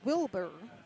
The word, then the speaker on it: Wilbur: But By the way, for those who don't know, it's Wilbur, just how you think it's spelled, and they have something, it's called a bud, B-U-D, a Wilbur bud.